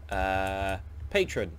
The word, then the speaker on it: Patreon: I've recently discovered a website called Patron, which is spelled the American way, P-A-T-R-E-O-N, and I've set up a site there.